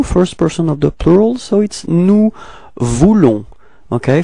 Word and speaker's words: nous voulons: Okay, so now for nous, first person of the plural, so it's nous voulons. Okay, final S is not pronounced.